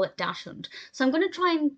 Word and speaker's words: Dachshund: I just want to say very quickly, after watching this film, I googled how to correctly pronounce Dachshund or Dachshund, because I grew up calling it Dachshund.